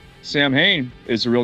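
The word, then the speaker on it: Samhain: know the cult names Sam Hayne is the real name for Halloween yes or actually the the Celtic pronunciation that someone has told me is uh sauwin or saving ah something like that oh I could see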